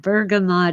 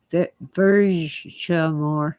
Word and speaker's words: bergamot: Oh, Lorraine says she's heard that bergamot is pronounced Bergamot. Yeah, if it's French, it probably is pronounced Bergamot. Bergamot. I want to put an R on the end for some reason. If it's French, yeah, it would be or Bergamot. Well, I don't use the sunblock lotions.